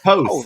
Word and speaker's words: Poth: That's really the only reason I broke in was to silently and somehow eke you into pronouncing it the right way. Right. I was like, I know it's something. Poth.